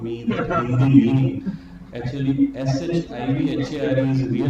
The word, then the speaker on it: Shivhar: Actually, SHIVHAR is real pronunciation, but because my father was in Air